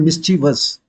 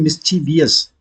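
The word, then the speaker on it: mischievous: spelling लिखा जाता है जैसे बोलते हैं मिसचिवस कई जगह पर सुनोगे लोग गलत बोलते हैं मिची वियस तो वीएस बोलेंगे तो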